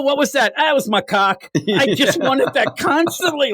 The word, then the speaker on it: macaque: The real it's macaque. That's what that monkey is called. That is the pronunciation.